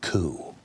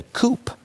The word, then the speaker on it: coup: They're going to use this document to pull off a coup. People who believe that, I think, would call it a coup. They're not even smart enough to understand the P is silent.